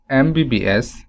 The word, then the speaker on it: MBBS: to use n here similarly mbbs when we pronounce the word mbbs we don't get the sound of m rather